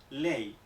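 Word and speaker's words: lei: Aquí en esta combinación la E sí que se pronuncia como la E española, y por lo tanto esto, en una sílaba como L-E-I, se pronuncia ley.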